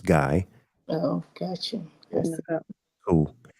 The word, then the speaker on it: Guy: I pronounced the name wrong. It's Guy.